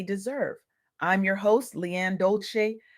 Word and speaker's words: Dolce: I'm your host, Leanne Dolce, pronounced dol-say, like sweet softness whispered in French, and I'm your guide